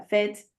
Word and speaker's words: fête: on dit Fête. après. Tu vois ou pas? Oui, oui, oui. Donc, pour le mot fête, le E, il est prononcé un peu plus longuement que les autres E de prononciation pour Et, l'accent grave.